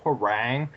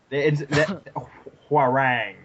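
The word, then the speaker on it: Hwoarang: i don't actually like harangue he's just he's got such a weird name i liked him because he had that invisible sword and like somehow hua rang is actually how you say it it's korean yes it's korean that is still stupid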